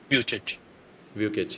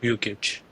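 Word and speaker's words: Vukic: We pronounce Vic or Vick. Vukitch. Yes. Viewic.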